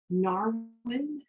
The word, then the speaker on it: Narwin: Narwin, am I going to pronounce that correctly?